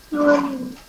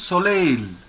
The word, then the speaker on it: soleil: Then how to pronounce this word? Soil. It is soleil.